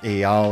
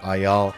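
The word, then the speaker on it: Eyal: i think that is i pronounce his name by the way it's just the last name ayal or ayal a few moments later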